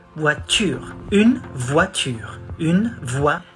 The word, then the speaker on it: voiture: Not tour, voiture.